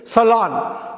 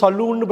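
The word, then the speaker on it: salon: எஸ்ஏஎல்ஓஎன் வந்து சலான், சலான் அப்படின்னு தான் படிக்கணும், சலூன்னு படிக்கக்கூடாது.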